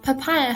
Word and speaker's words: POPIA: to teach you about papaya contrary to its pronunciation papaya has nothing to do with the actual fruits the abbreviation of papaya